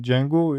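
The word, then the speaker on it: Django: जेंगो यह जेंगो डी जे लिखा हुआ है। लेकिन आपने इसको जे पढ़ना है। डी को डी इसमें साइलेंट है।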